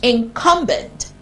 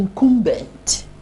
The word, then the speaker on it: incumbent: c u n b e n t is pronounced incumbent a as in capup not in incumbent and an incumbent is someone in official position